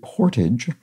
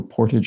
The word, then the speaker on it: portage: is carried over land both pronunciations used in the video are acceptable which I think were Portage and Portage with the more Frenchy sounding version more common outside the U.S this is definitely